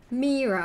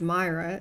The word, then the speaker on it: Mira: Just Mira is fine. Mira. I know some people pronounce it as Myra. That's not the way the cookie crumbles.